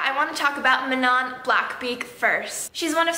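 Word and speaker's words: Manon: and then there's Manan blackbeak whose name I pronounced as mannon for like half of the book before I watched Sarah J Mass's interview about Aire and she said Manan and I was like whoa I'm so bad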